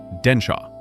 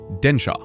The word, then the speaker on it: でんしゃ: The word for train is densha. I will say it first. Densha.